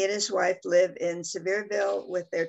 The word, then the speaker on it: Sevierville: He's worked for the Sevierville Police, did I pronounce that right? Sevierville?